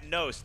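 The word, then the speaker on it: Knost: The key to this match today is Matt Nost. The K in that name is silent.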